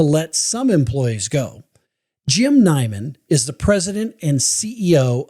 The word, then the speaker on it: Neiman: And last name is pronounced Neiman, just for okay there.